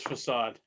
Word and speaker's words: Facade: Facade or Facade? Oh, the Neon Ninja. Yeah, the Neon Ninja. Isn't that Facade? It is Facade.